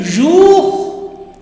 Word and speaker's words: jours: Les jours. Yes, is silent. Okay. Jours, no, it is jour.